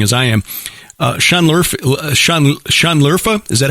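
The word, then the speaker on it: Şanlıurfa: this as interesting as i am uh shanler sean lerfa is that how it's pronounced that's right uh believed by many in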